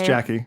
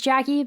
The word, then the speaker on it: Jacy: Cornerstone Family you want to start with us Jackie sure uh so my name is Jackie my first name is spelled j a y so when everyone sees JC it's Jackie it's Jackie but you know my parents thought that would